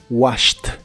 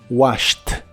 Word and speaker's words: washed: un verbo regular y la terminación Ed se pronuncia como t washed washed el verbo washed en